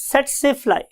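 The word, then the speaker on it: tsetse fly: हम बोलते कैसे हैं इसे हम बोलते हैं स्टूडेंट्स सेट से फ्लाई सेट से फ्लाई बिकॉज के टी is silent over here हम टी नहीं नहीं बोलते तो वर्ड इज सेट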